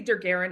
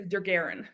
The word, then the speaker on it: Dargaren: I I say Dargaren. I don't know if that's correct. I just thought you made it up. Word looked cool. You you you made it up. It's pronounced however you say it is. Yeah. I just thought he's got an apostrophe in it. Let's go with it. I say it as Dargaren.